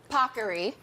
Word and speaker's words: paccheri: This is, as the Today Show team made sure I pronounced properly, paccheri.